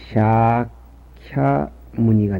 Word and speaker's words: 샤캬 무니: 불교의 교주이신 석가모니는 로마나에 쓰면 샤캬 무니가 됩니다. S우에서 N쪽으로 비친 것은 이것은 사이 발음 액센트입니다. A자 우에 즉 모음에 언제든지 가루 끄는 것은 장음입니다. 샤캬 무니가 되겠습니다.